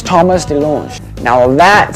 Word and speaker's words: DeLonge: I am Tom DeLonge, but it should be DeLonge, because I went to France, and they said, you're pronouncing it wrong. I'm all DeLonge. They're like, no, it is DeLonge.